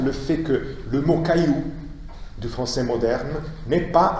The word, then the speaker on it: caillou: Donc en principe, si on devait respecter la prononciation et l'évolution typiquement française, on devrait dire chaillou. Si on dit caillou, c'est parce qu'on a conservé ce trait qui